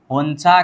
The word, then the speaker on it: 혼자: क्या है, होंजा है, लेकिन जब न नीचे आता है, ज साइड में आ जाए तो न का उच्चारण नहीं रहेगा, लेकिन ज का उच्चारण बदल के च में जाएगा, तो यहाँ पर हम उच्चारण क्या करेंगे, होंचा करेंगे, क्या, होंचा।